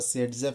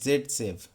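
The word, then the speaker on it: Zaitsev: Stable alkene बने, मतलब आपको सेटजेफ एल्कीन बनाना है, जिसको दूसरी एक और प्रोनाउंसिएशन है दैट इज़ जेड सेफ।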